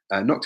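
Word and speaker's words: Knockdhu: Nokdu is pronounced Nokdu, and it means small black hill.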